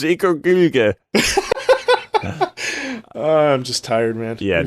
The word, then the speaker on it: Ikaruga: It's Ikaruga.